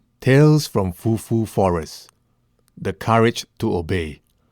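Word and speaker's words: 福: I will pronounce them for you now. Fu, which means blessing. Fu, blessing.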